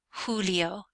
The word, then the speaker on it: Julio: cabayo cabayo is horse the letter J when you see it sounds like an H sounds like an H so here we have huno Julio and hes which means